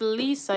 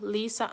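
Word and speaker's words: Liese: never too late to apply the name is Lisa it's spelled l i e s e Lisa Anderson so she does the H4 Visa process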